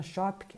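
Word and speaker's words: Schöpke: Shop que se escreve S-C-H-O-P-K-E.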